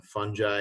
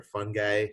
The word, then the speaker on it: fungi: today's video lecture on fungi or fungi depending how you want to pronounce it and protists and obviously